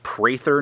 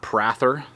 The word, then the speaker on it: Prather: Well, apparently I've been mispronouncing. It's Prather, not Prather, on the war buoy, but either way, however you want to pronounce it, Prather, Jeff Prather has outdone himself with this design.